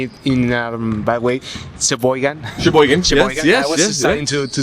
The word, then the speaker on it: Sheboygan: If I say it in a bad way, Sheboygan. Yes, I was starting to say it properly. Yeah, Sheboygan.